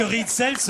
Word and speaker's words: Ritzel: j'ai dit que Ritzel se prononce bien Ritzels.